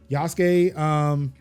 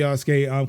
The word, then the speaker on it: Yasuke: I cannot pronounce her name, but Yasuke.